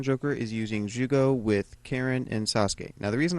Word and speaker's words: Karin: is in Naruto, Karin, and it was supposed to be pronounced Karen. So some people say Kareen.